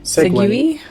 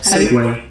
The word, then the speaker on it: segue: Exactly as it's spelled. I mean, segue. Segui? Segue. Yeah, exactly how it looks. Segui. Segway.